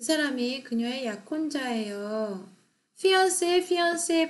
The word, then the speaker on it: fiancé: He is her fiancé. 그 사람이 그녀의 약혼자예요. fiancé 발음 똑같아요. 근데 이제 불어 단어기 때문에 이게 스펠링이 다르죠.